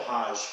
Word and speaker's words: Hajj: And half the challenge of completing your Hajj is getting all these rituals It's called Hajj. How do you spell it? H-A-J-J. Hajj.